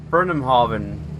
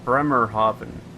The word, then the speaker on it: Bremerhaven: There's Burnhamhaven. I think that's how you say it. Bremerhaven. Yeah, Bremerhaven. Bremen.